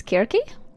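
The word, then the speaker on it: Circe: But then if you pronounce it in um a different way because I' I've heard it pronounced sometimes as Kirk for for Cersei.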